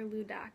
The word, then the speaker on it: Ladakh: the lak culture um lak or ludak is how you pronounce so this culture um